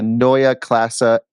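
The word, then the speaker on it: Neue Klasse: You had also been to BMW for the Noya Classa X.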